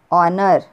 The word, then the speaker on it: honor: Honor. So ये सारे words में H is silent. We are not pronouncing H.